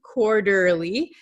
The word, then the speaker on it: quarterly: I teach American pronunciation so quarterly quarterly this tea is going to become a flap T so it sounds like an English um soft D sound in your country it